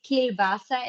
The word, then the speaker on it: klobasa: Uh, so, klobasa, Klobasa. This is a Slovenian word for sausage. Yes, so this kilbasa, as you wrote down, this is just, let's say, more adapted to the local pronunciation.